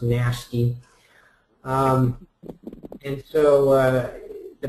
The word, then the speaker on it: NHST: he called it um nhst apparently intended to be pronounced nasty um and so uh